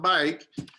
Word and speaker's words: baik: It's spelled differently, of course, but bike means good.